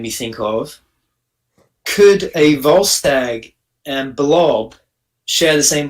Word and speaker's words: Volstagg: Volstagg, yeah, Volstagg.